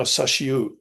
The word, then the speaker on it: Sashiu: slightly differently before, but it is now Sashiu. I was there earlier this week. I went down there to have a look at the island Kuroshima, where they landed in Sashiu. The thing about Sashiu is it's made of 3 Japanese characters, and the third one can either be pronounced U or O.